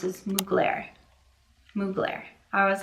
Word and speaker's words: Mugler: I also, thank you so much, the first comment who said the fragrance I wasn't sure how to pronounce is Mugler.